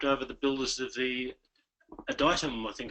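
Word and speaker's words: Adytum: Look, I tripped over the builders of the Aditum, I think it's pronounced. Yes, Aditum. Yes, Aditum, and been following their course.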